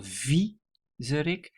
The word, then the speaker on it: viezerik: The emphasis is on the first syllable, viezerik.